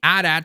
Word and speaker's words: AT-AT: We have the AT-AT here, and yes, I know some people say AT-AT. I always pronounce it as AT-AT.